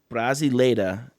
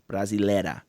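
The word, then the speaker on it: Brasileira: And just for the viewers, Brazila is spelled B R A S I L E I R A. Brazila.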